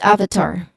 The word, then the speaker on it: avatar: So the correct pronunciation it uses short a sound like in cut. Avatar. Avatar. So the stress is also on the first syllable.